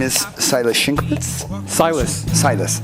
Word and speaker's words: Sajles: Silus. Silus. How do you spell that?